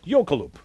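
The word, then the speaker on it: jökulhlaup: mercifully I'm on television so I have to pronounce the Icelandic word yokeloop which is a catastrophic breach of an ice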